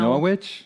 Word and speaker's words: Norwich: So we had lived in Norwich, and then in now Norwich? Norwich. That's how you say it when you live there a while.